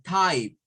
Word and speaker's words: type: Entonces eso suena a type, type. Y luego le agregamos type, type. Recuerden que es con la P, con la P, type. Entonces la E no suena.